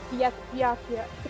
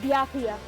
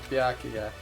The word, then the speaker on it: Byakuya: Doesn't know how to say his name is Bakia. But I even I get it. It's Bakya. That's how you say his name. Byakuya.